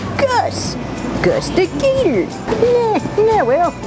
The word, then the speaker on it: Gus: Order for gas? Gas? Somebody say gas? Got my name wrong. Supposed to be Gus.